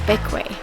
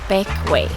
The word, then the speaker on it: Bequia: this is big way often pronounced wrong due to its spelling but it's pronounced backway so we just